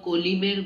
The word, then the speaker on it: কলমি: নরম ধানের গন্ধ, কলিমের গন্ধ। উচ্চারণ ভুল হলো, ওয়েট, ঠিক আছে, উচ্চারণটা ভুল হলো, উচ্চারণটাও তো আমাদের ঠিক করতে হবে। কলমি শাক জানি না, কলমি শাক, কলমি উচ্চারণ করো, কলমির ঘ্রাণে বলো।